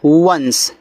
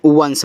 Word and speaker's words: once: ठीक है, देखो लिखा है कि ONCE, तो इसको पढ़ते हैं वंस। क्या पढ़ते हैं? वंस पढ़ते हैं, ऐसे वंस।